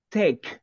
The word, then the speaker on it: tech: The pronunciation of this one, tech. La CH en este caso suena como un sonido de K, no como ch. Tech.